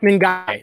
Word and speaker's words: Ngakoue: Oh, Yannick Ngakoue. That's the one thing that's tough is about Ngakoue. Yeah, it's the N is silent.